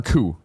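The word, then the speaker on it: Coup: The Cat and the Coop. Is that right? Or Coo? Cat and the C-O-U-P. How do I pronounce that?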